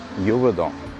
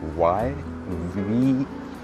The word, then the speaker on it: Yverdon: And the other one is, that's a very tricky one for me to pronounce. It's called Yverdon.